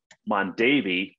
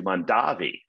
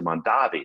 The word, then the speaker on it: Mondavi: kind of unexpected things first he changed the pronunciation of his name to from mondavi to mondavi so originally a family was called mondavi but he changed it to mondavi this was to differentiate himself from his brother